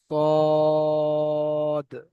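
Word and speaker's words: صاد: আচ্ছা এখান থেকে সদ সদ সবাই বলতে থাকেন সদ সদ সদ এটা হল সদ সদ এটা পুর অক্ষর এ মুখ গোল করে বলতে হবে সদ সাতটি পূরক্ষর রয়েছে।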